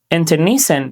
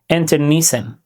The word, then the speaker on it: internecine: Internecine means a fight within the same group where people turn against each other and both sides are harmed. Its pronunciation, internecine, internecine.